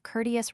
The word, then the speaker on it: courteous: The English make the first syllable of courteous rhyme with fort.